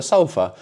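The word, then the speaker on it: ソファ: So maybe one of us says I'll sleep on the sofa. Sofa is sofa with a long a sofa.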